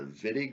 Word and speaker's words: Wittig: Uh, in German, W's are pronounced as V's, or so I've been told. And so this is the Wittig reaction.